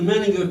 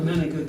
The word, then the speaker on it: Menninger: By the way, if you really know about the Menninger Clinic, if you pronounce it Menninger, if you're pronouncing Menninger, that means you never knew anything about the Menninger Clinic. They pronounced it Menninger.